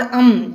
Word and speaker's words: अं: बच्चों, हम अन और अम दोनों प्रोनाउंसिएशन कर सकते हैं, पर ज़्यादातर उसका जो न है ऐसा ही उच्चारण होता है।